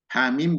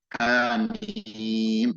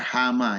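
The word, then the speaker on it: حم: Ya, dibaca dengan ha-nya panjang, satu harokat, mimnya dibaca dengan mat seukuran mad lazim. Hamim, begitu bacanya. Tidak boleh dibaca hama ya, tapi hamim, begitu cara baca.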